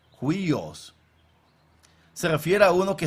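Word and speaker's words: υἱός: Y hay una palabra aquí que se pronuncia como huios. Huios.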